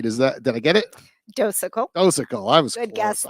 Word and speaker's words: Docekal: I think I might have pronounced that somewhat right. Did I get it? Docekal.